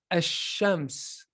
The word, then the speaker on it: الشمس: In this example, we read it as ash-shams. Ash-shams. The lam is not pronounced. We say ash-shams.